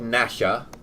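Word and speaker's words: Gnasher: dennis the menace and his dog nasha had a silent g at the beginning as well so so i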